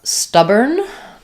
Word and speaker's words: stubborn: So in the word stubborn, we again have the o r saying the e r sound cuz it's not stressed. So the stub syllable is stressed. It has the schwah. Even though we have two b's, we only say one b sound.